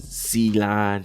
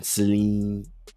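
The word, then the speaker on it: Celine: It's almost like saline. Like solution for your eye. Nah, but it's it's more like Seline. Seline. Seline. And she want that Seline. Common misprononunciation. Seal line.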